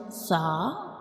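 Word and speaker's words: ث: This is the inner view of mouth, and when we pronounce sa, we touch the tip of tongue to the edges of upper teeth, like sa, sa, sa, sa.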